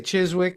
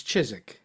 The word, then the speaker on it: Chiswick: Well, I should say talking about London, it's it's Chisik. What did I say? Chiswick and it's Chisik. Chisik.